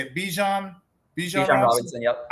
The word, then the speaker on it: Bijan: Bijan Robinson. Yep. I always say it wrong, and I say Bajorn sometimes.